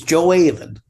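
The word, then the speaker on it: Gjoa Haven: It's Joe Aaven. Spell that for me, please.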